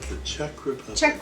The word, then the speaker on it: Czech: it wrong The Chez check check Republic Republic Czech Republic Czech Republic I'm wearing this because yeah